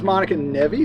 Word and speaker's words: Monica Nevi: Hey everybody, this is Monica Nevi.